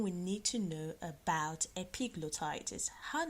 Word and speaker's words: epiglottitis: a big blow Titus did you hear me epiglottitis I'm gonna spell that for you epi GL or CT IT